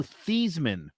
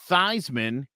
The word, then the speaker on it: Theismann: name was actually joe thiesman and they started pronouncing it theismann because it rhymed with heisman oh yeah he did